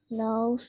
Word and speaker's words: knows: Perhaps the queen knows something. So no S on queen. Perhaps the queen knows something. Perhaps the queen knows something. Knows. Knows Yeah, something. like nose. Pronounced like nose.